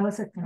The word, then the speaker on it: Osaka: Osaka.